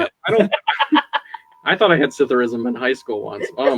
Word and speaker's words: psithurism: I thought I had Cytherism in high school once. Oh my god. It's terrible. It's PSITHURISM. What is Cytherism? There's a silent P.